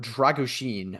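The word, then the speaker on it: Drăgușin: from RB leig and Radu dragusin which I believe is the uh agreed upon pronunciation given all of the uh experts that have appeared on Twitter in recent days in Romanian pronunciation so um yeah verer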